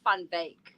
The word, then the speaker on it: Van Wyk: So the way it's actually pronounced, because it's Afrikaans, is Van Wyk.